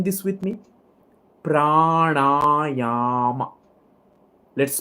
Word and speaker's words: pranayama: Pranayama. Let's pronounce it together first. Pranayama.